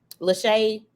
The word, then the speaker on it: Lachey: So Lachey rhymes with Renee, which is my mom's middle name and my daughter's middle name.